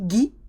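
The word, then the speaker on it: gui: So you've got guerre, and if you remember mistletoe from the Christmas lessons, it's G-U-I, gi, gi. Okay, the U hardens the G with E and I, just with E and I.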